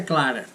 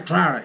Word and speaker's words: Clara: You have Santa Clara in California. Clara. But we say Clara.